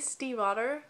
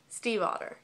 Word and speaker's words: Stiefvater: Lily Blue by Maggie Stiefvater, which I actually looked it up. That is how you pronounce her last name. I was surprised. Stiefvater. Stiefvater. Sorry, I just butchered your name.